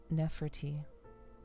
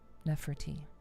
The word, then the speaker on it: Nepherti: Nefert. Nefert.